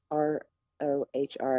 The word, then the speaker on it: Rohr: A friend of mine is reading and listening to and taking in some work by a gentleman named Richard Rohr, Rohr, I believe.